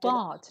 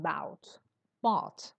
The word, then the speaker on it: bought: bought are delicious and the pronunciation is bot not B bot okay bot and Shar